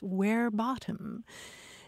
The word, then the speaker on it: verbatim: quoting somebody verbatim because in latin it's where bottom and we shouldn't be